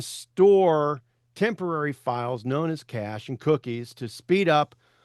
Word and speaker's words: cache: C A C H E. Some people will pronoun- pronounceticate that cachet.